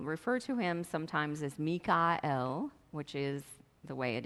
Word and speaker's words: Michael: German all of these share the L sound which is the word that means God so I will refer to him sometimes as mika l which is the way